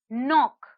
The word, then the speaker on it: knock: is silent the next word is knock knock knock if you hear the letter k is silent the next word is